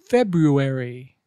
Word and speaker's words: February: word number one February make sure you pronounced both R's February example Jill's birthday is